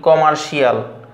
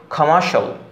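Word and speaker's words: commercial: ইংরেজিতে বলা হয়ে থাকে কোনো শিয়াল নাই, যেমন আমরা বলি কমার্শিয়াল, অ্যাসেনশিয়াল, পটেনশিয়াল, এগুলো আসলে শিয়াল উচ্চারণ নাই ইংরেজিতে। ইংরেজিতে উচ্চারণটা হবে কমার্শাল, কমার্শাল, potential, essential, essential, essential, essential, কমার্শাল, অর্থাৎ শিয়াল নাই।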